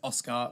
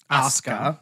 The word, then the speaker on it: Asuka: I was unfortunately pronouncing it as Oscar, where it's Asuka. Asuka. But it's definitely not A-soo-ka.